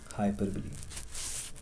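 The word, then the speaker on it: hyperbole: इसके बाद आता है हाइपरबली. इसको हाइपरबोल भी कुछ लोग प्रोनाउंस करते हैं, लेकिन इसका जो एक्चुअल प्रोनाउंसिएशन है इट इज़ हाइपरबली, राइट.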